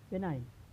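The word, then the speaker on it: benign: When I ji comes before N, यानी जो आई और जी एन के पहले आता है तो जी को साइलेंट पढ़ा जाता है। जैसे आपका हो गया साइन। तो दोस्तों, हम यहाँ देख रहे हैं कि एन के पहले क्या है? आई जी, तो यहाँ पर आई जी का उच्चारण नहीं होगा, यानी क्या होगा यहाँ पर? यह साइलेंट।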